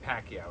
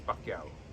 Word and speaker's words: Pacquiao: Everybody says Pacquiao. It's Pacquiao. Manny Pacquiao. That's how you say It's it.